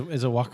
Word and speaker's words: Wacom: Which I only recently learned how to pronounce that. Is a Wacom? It's Wacom. It's a Japanese company.